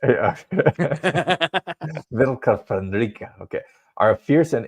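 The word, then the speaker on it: Vlka Fenryka: Yeah, the Vilka Fenrica. Fenrica, okay. Yeah. Don't really roll your R's. Yeah. Vilka Fenrica, okay.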